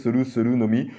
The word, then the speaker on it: Soru no Mi: Alors moi, il y a marqué Soru, mais moi je pense que c'est Sol no Mi, prononcé à la japonaise, Soru no Mi, le fruit des âmes de Big Mom, tout simplement.